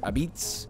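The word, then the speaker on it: apizza: number 29 Connecticut which they call this New Haven pizza but they also pronounce it abits I don't know what's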